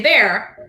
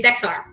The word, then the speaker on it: Bexar: to say it or if you give someone the name bear county texans know how to say bear but someone who's not from texas will say bexar it's kind of like